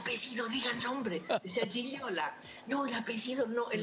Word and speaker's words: Gigliola: Gigliola. Bastante. Un 9 te pongo. ¿Cómo es? ¿Cómo es? Perfecto. Casi pronunciable.